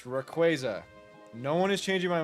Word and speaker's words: Rayquaza: I am pronouncing it correctly. It's Rayquaza. Rayquaza.